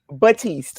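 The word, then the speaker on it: Baptiste: Batiste. Okay. So the P is silent.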